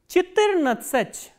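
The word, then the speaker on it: четырнадцать: 14 we say Chittirnatsach, Chittirnatsach, and stress is on E, Chittirnatsach.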